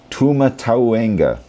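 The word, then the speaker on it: Tūmatauenga: Tuma tawena.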